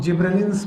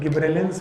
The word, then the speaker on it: gibberellins: जिब्रेलिक acid, जिनको commonly हम लोग जिब्रेलिन्स बोलते हैं। अब इनको प्रोनाउंसिएट करने के सबके अलग अलग तरीके हैं। कोई गिब्रेलिन्स बोलते हैं, कोई गब्बर सिंह बोलते हैं।